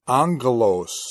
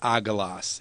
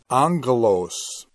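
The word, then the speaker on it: ἄγγελος: gammas in a row the first one is pronounced like an N so it's angle owes not a gloss it's Anglos and that is what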